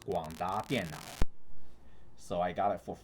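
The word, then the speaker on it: 廣達電腦: And it's a Taiwanese company, and in Chinese it is pronounced 广达电脑.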